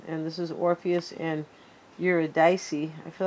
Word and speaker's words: Eurydice: And this is Orpheus and Eurydice.